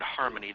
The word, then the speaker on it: harmon.ie: we know the word harmony this is slightly different harmon.ie pronounced Harmony um they uh just